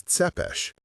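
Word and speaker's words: Țepeș: He pronounced the last name as Tepesh.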